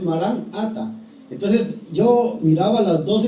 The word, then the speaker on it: marán ata: expresión era marán ata casi la mayoría pronunciamos corrido y decimos maranata entonces pero la palabra exacta es marán ata Entonces yo miraba las